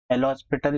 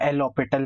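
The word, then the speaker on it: L'Hôpital: Clear कर देता हूँ, एल हॉस्पिटल या एल ऑपिटल बोलते हैं लोग, ठीक है, आई राइट द स्पेलिंग ऑल्दो। ठीक है, तो एल ऑपिटल रूल जो होता है, लॉपिताल भी बोलते हैं बहुत सारे लोग, यहाँ पे ये डायरेक्टली नहीं लगा सकते।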